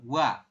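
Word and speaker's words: ㅘ: dulu ditambah dengan a Anda membacanya bukan oa tapi digabung ya berubah menjadi langsung wa bukan oa tapi dibacanya adalah wa sampai sini bisa dipahami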